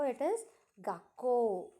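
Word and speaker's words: 学校: So it is gakko. Okay, it is not kako, it is not gakko. Okay, this is like gakuko. It is not gakuko also, it is gakko.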